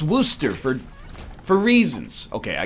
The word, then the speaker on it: Worcester: even though that's the way it's spelled it's pronounced Worcester for four reasons okay I got to see